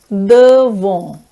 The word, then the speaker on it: devant: Next preposition is devant. Devant. The T in the end is not pronounced.